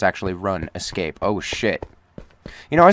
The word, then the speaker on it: RuneScape: You remember one time as a kid, your friend's mom actually did pronounce it run escape.